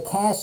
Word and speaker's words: cache: it i didn't know what they're talking about it's spelled c-a-c-h-e and basically the cash is where it stores a lot of information